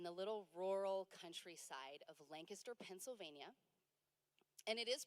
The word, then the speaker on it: Lancaster: and raised in the little rural Countryside of Lancaster Pennsylvania and it is pronounced Lancaster not Lancaster that's how we know like who's in who's